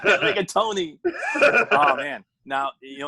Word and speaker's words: rigatoni: if I call up a restaurant and order rigaton. With a side of Oreos. A dummy like me wouldn't even know you're saying it wrong. Rigatoni.